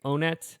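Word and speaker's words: Onett: I think some people say Onet. I pronounce it Onnet because that makes sense. It's always been on it to me, but It should be one-et.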